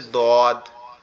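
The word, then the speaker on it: ض: ওকে, এরপরে যেটা আছে সেটা হচ্ছে দদ, পরে যেটা আছে সেটা হচ্ছে দদ। এই দদের উচ্চারণটা একটু কঠিন, দদের উচ্চারণটা একটু কঠিন, কেন কঠিন, কারণ এটা হচ্ছে আমাদের জিহ্বার গোড়া উপরের মাড়ির দাঁতের গোড়ার সঙ্গে লাগবে।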